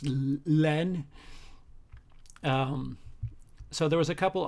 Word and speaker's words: La Haine: It's spelled La Haine, but in French it's Len.